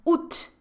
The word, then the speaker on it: août: Vou até falar ele rapidinho, é août. Août é agosto, e ainda por cima se escreve desse jeito aqui. Août, août. A pronúncia é só essa mesmo, tá? Août.